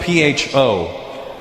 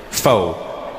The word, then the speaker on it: pho: It's spelled P-H-O. Pho. But it's not the way it's pronounced.